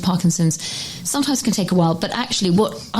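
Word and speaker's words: Weil: It's while like you smile.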